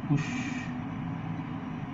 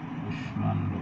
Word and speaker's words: কুষ্মাণ্ড: যে দেখে সংস্কৃত শব্দ, কিছু সংস্কৃত শব্দ রয়েছে, সবগুলো নয়, সেগুলো মফলা উচ্চারিত হয়। তাহলে এখানে এই মফলাটির উচ্চারণ হবে কুষ্মাণ্ড, কুষ্মাণ্ড মানে কুমড়া।